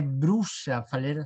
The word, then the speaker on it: bruxa: Bruxa, fazer o B, fazer o X, lembrar que aí é X, que é B, não é Bru.